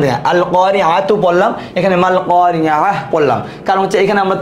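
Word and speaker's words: القارعة: হার উচ্চারণ হয় নাই, তাহলে তার উচ্চারণ হয়েছে আল কারিআহ, থেমে গেলে হার উচ্চারণ, মাল কারিআহ থেমে গেলে হার উচ্চারণ, মিলায় পড়লে তার উচ্চারণ আল কারিআতু, মাল কারিআতু ওয়া মা।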